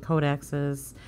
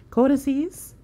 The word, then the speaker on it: codices: could go through the codex's codices that's how you say it uh yeah okay